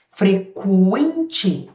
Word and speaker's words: frequente: Frequente q U. Q U. O U é pronunciado. Agora em quente ele não é.